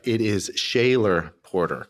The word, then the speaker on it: Schoeller: It is Shayaylor Porter. Correct. Shayaylor. Yes. That's how my family's been pronouncing it for millennia.